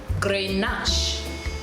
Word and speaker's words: Grenache: However, it is spelled G-R-E-N-A-C-H-E. Now, in most English-speaking persons or countries, we may say Grenache, Grenache, but the correct pronunciation is G-R-U-H Nash, N-A-A-S-H. Grenache, Grenache, Grenache.